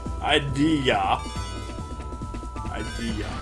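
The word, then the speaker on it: Ideya: no Mr senator oh idia is spelled i d e y a so it's not a misspelled idea yeah but you could pronounce it that way yeah you can you could Idea Idea yeah why is there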